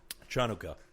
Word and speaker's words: Chanukah: Chanukah. Nice. That's the authentic pronunciation. So, which of the holidays do Hanukkah.